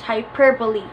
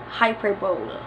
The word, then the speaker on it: hyperbole: The correct pronunciation of this word is hyperbole. Hyperbole, not hyperbole.